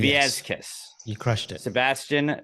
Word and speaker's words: Viescas: I'm saying Viescas. Yes. You crushed it. Sebastian Viescas.